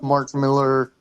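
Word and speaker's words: Millar: It's Mark Miller. Well, then spell it with an E, damn it.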